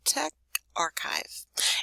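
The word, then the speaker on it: TechRxiv: oh look at it it tells me how to pronounce it te text archive okay Tech archive is an open moderated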